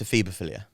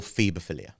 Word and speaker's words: ephebophilia: No, it's ephebophilia. Or phebophilia. Right. There's two different pronunciations of it.